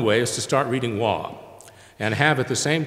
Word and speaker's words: Waugh: British writer Evelyn, and it's not Evelyn, Waugh, and Waugh is spelled W-A-U-G-H, like our old science building.